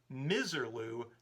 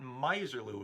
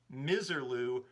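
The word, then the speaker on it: Misirlou: pointed out that the dick dale number is called miserloo not miserlu as i was pronouncing it daddy bogg also chimed in with that information thanks for correcting me it definitely is miserloo not miserlu and i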